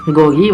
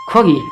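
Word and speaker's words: 고기: खोगी, यहाँ चाहिँ खोगी भन्नु पऱ्यो फेरि। खोगी भनेको चाहिँ मासु, यहाँ गोगी, यहाँ चाहिँ खोगी। यहाँ सुरुमा आएको छ त्यस कारणले ख उच्चारण गरियो, यहाँ बिचमा त्यस कारणले ग।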